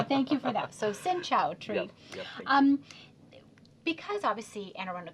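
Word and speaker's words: xin chào: it's very easy okay like sinow sinow sinow okay so that'll be that'll count as my one good thing I learned today so thank you for that so sinow tree um because obviously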